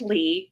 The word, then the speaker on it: Ly: at lee and it's l y like love yourself but it's pronounced lee so think differently you'll